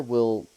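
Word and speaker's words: oui: over the wrap-up situation we is just yes in French well I mean if you spell it correctly it is O UI but yes you are correct it is we in French um but yeah like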